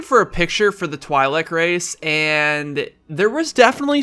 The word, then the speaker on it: Twi'lek: You guys told me that's how you say it, Twi'lek, like Twilight apparently.